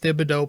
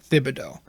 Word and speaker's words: Thibodeau: say his full name it's th you pronounce thibodeau but when you say tips it's just the t that you pronounce i think omni i